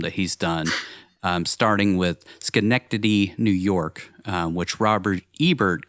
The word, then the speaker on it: Schenectady: Every time I see Schenectady written out, I think that there's this like pronunciation video that's like the first result on Google is like Sinodody Tody Chody.